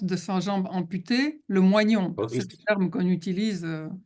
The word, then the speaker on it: moignon: ce qu'on appelle le moignon. Ah, le moyen. Il ne Oui. pouvait pas parler de cette M-O, partie. oui. Il ne pouvait pas prononcer ce mot. Ça s'écrit M-O-I-G-N-O-N. Ah, oui, mais moyen. Voilà.